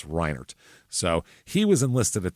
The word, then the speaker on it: Reinert: T by the way oh Ryan yeah you wanted to say Ryan Hart that's how I kept wanting to spell it but no it's reinert so he was enlisted